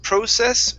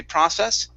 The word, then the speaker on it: process: first step okay so you can pronounce this word process or process okay both ways are both ways are okay I personally say process okay there are other teachers that say process okay but they're the